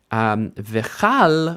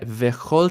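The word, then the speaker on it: וְכׇל: So instead of v'chal, we get v'chol tzeva'am, because chol is actually unstressed.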